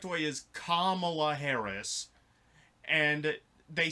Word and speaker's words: Kamala: See, I can kind of agree with that, but if she's, like, telling people over and over again, like, it's pronounced Kamala, and they're just like, Kamala?